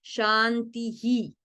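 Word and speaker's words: शान्तिः: Ahora, entonces, ¿por qué no se pronuncia en el primer shantihi, shantihi, shantihi? Por la regla del canto védico. Shanti, shanti, shantihi. Porque es el último en esta regla el último de la frase.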